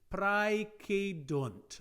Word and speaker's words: praecedunt: Remember that if you want to find an English derivative, if you have the diphthong ae, pronounced in classical times as I, praecedunt, if you take away